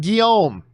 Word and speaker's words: Guillaume: crowe film uh side note my name is said like uh uh guillerme oh like the actor robert gil uh guillaume robert guillaume a good canadian kid by the way robert guillaume so it's pronounced guillaume i you know what